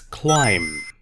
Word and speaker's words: climb: it's mustn't how do you say this it's climb not climb but no climb be silent read the words and underline the silent letters underlined put a line under the silent